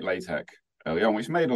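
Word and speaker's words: LaTeX: has many different spellings like latch I'm pronouncing it with the the soft sort of sound at the end um when you write it it's l a t x um it's just that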